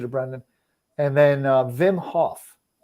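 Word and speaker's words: Wim Hof: brendan and then uh vim hoff uh so it's spelled w-i-m that's his first name vim hoff hof he's got bazillion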